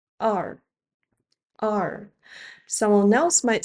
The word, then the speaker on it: 二: relatively easy to pronounce Everyone says 二 (èr) a little differently depending on where they're from I say it like the English letter R but with relaxed lips 二 (èr, two).